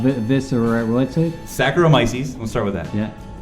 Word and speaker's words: Saccharomyces: Well, now you're just dropping All syllables. right. Viscerae. What's it? Saccharomyces.